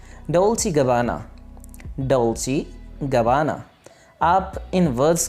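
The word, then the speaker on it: Dolce & Gabbana: Next हमारे पास एक और ब्रांड नेम है डोल्चे गबाना। डोल्चे गबाना। आप इन वर्ड्स को मेरे पीछे पीछे प्रोनाउंस कीजिए ताकि आपकी प्रोनाउंसिएशन ठीक हो सके।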